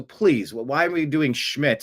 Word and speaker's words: Schmidt: S C H M I DT. Like that's how we're going to pronounce it. Not Smid. Smid. It's Schmidt.